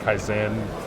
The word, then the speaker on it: Kyzen: continuous improvement it's pronounced kaizen for those folks right uh as americans we tend to emphasize the first syllable but uh so this